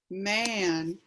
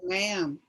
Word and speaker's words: ma'am: me yes man yes what they're saying is is not man they're saying ma'am they're not saying man ma'am and it's also short